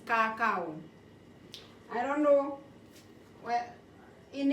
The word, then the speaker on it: kakao: You see, you pronounce C, we pronounce K. So ours is kakao.